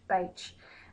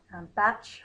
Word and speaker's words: Bach: And as I suggested, his name was originally pronounced Bache, but his flower essence students, when he was originally teaching, pronounced it Batch for a while, and then it became Bark because everyone was familiar